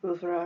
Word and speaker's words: oeuvre: Imaginative, whimsical colors, themes, and motifs that becomes part of his oeuvre, or oeuvre if you prefer that pronunciation, his signature style.